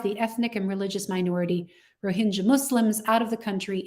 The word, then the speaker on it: Rohingya: photos here well first i want to say rohingya is the way that people who are rohingya pronounce their name the vast majority of people in the media and even academic circles say rohingya so you know it doesn't really matter what